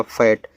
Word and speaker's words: FAT: आगे FAT, देखो जब 2 कॉन्सोनेंट्स के बीच में ए हो तो ए का उच्चारण ए की मात्रा के रूप में होता, तो एफ से आपका फा, ए का उच्चारण ए की मात्रा, टी से आपका टा फैट, और फैट का अर्थ होता है मोटा।